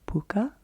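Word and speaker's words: Pukka: that i have from puka i think is how you pronounce this brand p-u-k-k-a and it is lemon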